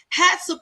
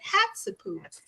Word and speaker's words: Hatshepsut: Hatshepsut is how you pronounce her name cuz I'm familiar with the name and I'm familiar with the crazy way to me it's the crazy way it's spelled because you know, right cuz we don't pronounce words like that and so now I know how to say it.